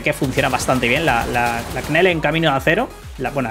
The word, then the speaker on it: Knell: Yo creo que la K aquí es como la letra G en la palabra gnomo. Inútil. Pero bueno, Knell, Knell, Knell.